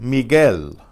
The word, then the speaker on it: Miguel: Don Miguel, Don Miguel. There the G is hard because of the silent U.